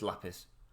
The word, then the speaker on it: lapis: actually did the 30-second check on how you pronounce lapis and it is lapis and there's also an image of what polished